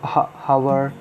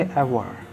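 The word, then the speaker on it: hour: इसको हावर या आवर नहीं बोलेंगे, इसको बोलेंगे एवर।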